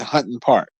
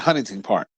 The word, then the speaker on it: Hunting Park: see the proper p the proper way to pronounce it is Hunting Park, but we call it Huntington Park.